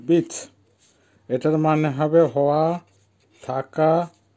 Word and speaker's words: быть: Verb bit বা গ্লাগোল বিট, উচ্চারণ হয় বিট।